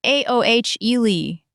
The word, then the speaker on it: aioli: And aioli is a garlic mayonnaise, pronounced aohle.